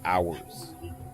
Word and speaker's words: hours: We're playing more book of hours. Not mine, not yours. Ours. Um, yikes. Oh, another word that makes it obvious how dumb English is. Well, that silent H will get you.